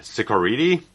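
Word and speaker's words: Ciccoritti: didn't butcher like this so Jerry c i c c o r i t t i so uh sakuridi I guess but he actually emailed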